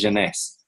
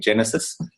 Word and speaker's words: Jeunesse: anti-aging industry specifically is Janice. And you have to pronounce it like that. It's French for youth. Janice if anyone was wondering. I have some people calling it Genesis.